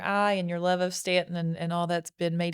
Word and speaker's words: Staunton: So thanks for checking out the U is Silent, We Aren't podcast by Visit Stanton.